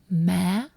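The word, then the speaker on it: má: In Southern Vietnamese, mom is ma. Ma. So, it's like ma but higher tone at the end.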